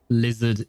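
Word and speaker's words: lézard: This is how you say uh lizard in in French. It's lizar.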